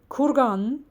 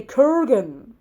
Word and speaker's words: kurgan: Or they cannot say kurgan. They say kurgan, right?